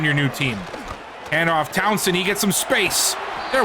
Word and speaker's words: Townsend: Zeke Townsend.